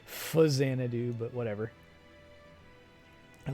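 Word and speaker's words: Faxanadu: facsanna do which i i pronounce it facsiana do i don't know how other people say it i know it's supposed to be fuzzanadoo but whatever i like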